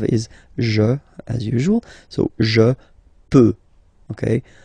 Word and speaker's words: peux: Final X not pronounced here, okay? So you've got X, but you don't pronounce it, so basically you get the sound peut, je peux, okay, so I can, je peux, okay. Then tu peux, same pronunciation and same spelling or writing, okay. P-E-U-X, okay, don't pronounce the final X.